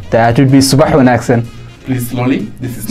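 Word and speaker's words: Subax wanaagsan: That would be subah wen accent.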